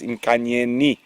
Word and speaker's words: Nkanyeni: So it is with the I. I have been incorrect. I do apologize. It is Nkanyeni.